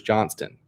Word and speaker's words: Johnston: I know I just the way I said it sounded like I said Bruce Johnson I know he's Bruce Johnston with the T I'm one of the